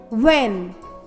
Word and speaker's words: When: WH sounds W. Y. When. While. White. Which. In these words, the letter H is silent.